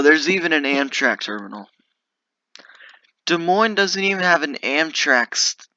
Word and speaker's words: Des Moines: i gonna get all right new virginia 10 des moines 44. when i was little i used to pronounce it des moines but no it's a des moines okay over here is the creek and this